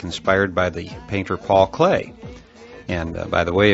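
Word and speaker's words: Klee: engineering student like me, you may be pronouncing his name Clee Ee just as it's spelled. Uh however, I have it on very good authority that clay is a proper pronunciation.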